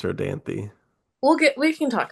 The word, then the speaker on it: Rodanthe: Yes, possibly Nights in Rodanti. We do not know exactly how that is pronounced. I think it's Rodanti.